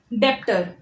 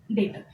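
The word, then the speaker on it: debtor: डेप्टर. नो डेप्टर, नो डेटर. हमेशा याद रखना है इस वर्ड में जो बी होता है वो साइलेंट होता है, that is इट is called as द डेटर.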